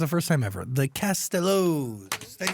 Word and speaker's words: Castellows: I think it's because of like Elvis Costello, which is why like people say it like that, but it's Castellows, like Castellows.